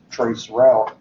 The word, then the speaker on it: traceroute: the actual name is it's going to be pronounced trace route either way but if you're using